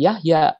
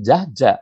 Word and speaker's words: Yahya: Yahya, ini dulu saya diberi nama Yahya. Nah, itu dibacanya semacam ini, Yahya. Kalau sekarang orang membacanya semacam ini. Tapi kalau sekarang nama saya yang semacam ini dibaca oleh anak-anak muda, pasti Jahja, bukan Yahya. Pasti Jahja.